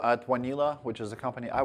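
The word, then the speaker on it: Wanelo: a consumer product um it's basically a it's pronounced vanila it's um comes from W need love and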